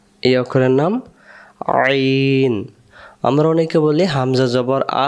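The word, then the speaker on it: عين: মধ্য থেকে তাহলে আমরা আইন অক্ষর হলকের মধ্য থেকে একটু চেপে পড়তে হয় আইন আরেকবার আইন অক্ষর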